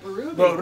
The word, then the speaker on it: Berube: How you say it? Ruby. Barubi. Like a ruby.